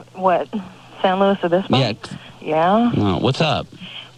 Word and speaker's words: San Luis Obispo: San Luis Obispo?